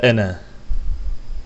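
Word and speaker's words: أنا: kal hükmü vaciptir ve ene la ene de yine Medi munfasıl vardır aslında Ena Medi Tabii gibi görünse de enı uzatmıyor ene bir zamirdir ve ene zamiri bu şekilde dokunur Ena değildir Bu yüzden burada meddi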